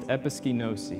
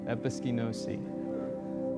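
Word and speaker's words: ἐπισκηνώσῃ: And they come from one Greek word pronounced episkinosi. And I wrote out the phonics for that just to help me out. Episkinosi.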